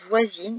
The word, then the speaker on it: voisine: Au féminin, voisin devient voisine. Il suffit de rajouter un E. Et du coup, le IN ne se prononce plus un, mais IN.